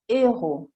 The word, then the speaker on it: héros: Sappiate però che non si fa la liaison, per esempio héros vuol dire eroe e haricot, lo abbiamo visto, vuol dire fagiolo, fagioli. Queste due parole hanno una H aspirée davanti che non fa fare la liaison, si dirà des héros, proprio una regola di